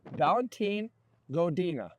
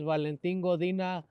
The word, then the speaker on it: Valentin Godina: Swanson I'm in here with make sure I pronounce this right Valentine godina I get right yes so you have the folks a moment to tell a little bit who you are hello my name is Valentin godina I am running for City Council of Victorville